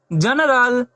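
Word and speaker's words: general: उसी प्रकार जी ई एन ई आर ए एल, जी के बाद क्या है हमारा, ई है, तो अब यहाँ जी की ध्वनि क्या होगी, ज होगी। तो इसे हम लोग क्या पढ़ेंगे, जनरल।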